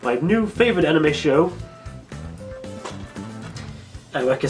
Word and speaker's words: Eureka: Not Eureka, Eureka, that's how it's pronounced, I don't know why.